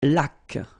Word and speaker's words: laque: Une laque. Remember the rule? When you get this Q-U, well, U is not pronounced, so you get K, like that. Une laque. Une hygiène.